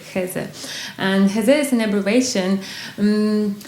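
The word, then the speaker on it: Х3: Yeah, maybe I can say some words to the pronunciation is khaze in Russian, which is basically this is two letters, h is z, h and z. It's like in German it reads X3, but in Russian it would be like heze.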